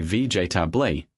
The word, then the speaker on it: vegetable: Learners say vegetably, 4 syllables. Americans say vegetably, 3 syllables. Vegetably. The second E disappears completely.